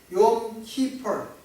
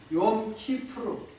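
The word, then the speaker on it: Yom Kippur: 그리고 가을의 두 번째 절기인 속죄일, 욤 키퍼, 이렇게 영어로는 발음할 수 있지만 욤 키프루 그렇게 발음을 한다고 합니다.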